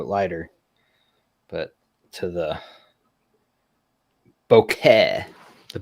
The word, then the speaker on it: bokeh: Well, I was thinking about switching because these are a little bit lighter, but to the bokeh, the bokeh. Nice. That's how Very, I very pronounce it.